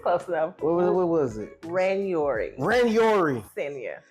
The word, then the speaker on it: Ranyouri: Ranyouri.